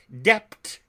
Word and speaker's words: debt: rakers of orthography as to speak doubt fine when he should say doubt debt when he should pronounce Dept d e b t not d t he kpth a cal